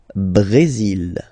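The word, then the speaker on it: Brésil: only mexic okay Brazil Brazil okay you will pronounce the final L here and then remember accent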